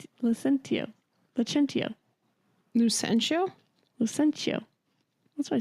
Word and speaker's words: Lucentio: Licentio. No. God, Licentio. Hold on, I'm not looking at your notes. I need to look at them to remember the names. Licentio. Lucentio.